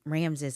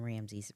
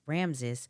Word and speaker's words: Ramses: we get to ramsy Ramses I I was saying his name wrong in the last episode it's Ramses I was saying Ramsey Ramses and Bowden they are actually